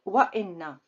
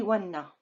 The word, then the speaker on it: وإن: This is the best way and the correct way to pronounce it. وإن. I cannot say وَنَّ. It's not a word and it's not good pronunciation. That's why I need Hamza.